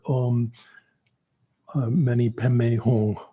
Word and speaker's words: Om Mani Padme Hum: The difference is she's trained in Tibetan Buddhism, and so if you're doing it like a Tibetan person would pronounce it, it's usually something more like Om Mani Padme Hum.